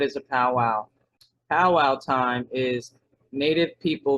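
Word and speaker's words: pauwau: The term, originally pronounced, is powwow, meaning gathering of medicine men and spiritual leaders in a curing ceremony. So that was the original meaning, and the word was this here, P-A-U-W-A-U, and it meant gathering of medicine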